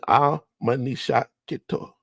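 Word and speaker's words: Amanishakheto: So here we have a representation of one of the temples that shows Queen Amenishakito, right? That's how you pronounce her name.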